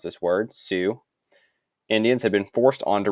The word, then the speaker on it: Sioux: so native resistance by 1876 most of the Sioux Indian that's how you pronounce this word Sioux Indians had been forced onto reservations this guy